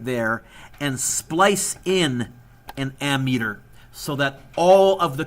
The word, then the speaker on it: ammeter: measured using a meters I don't know why it's not amp meters but the P is not pronounced not even written so you measure amps with an ammeter and you measure volts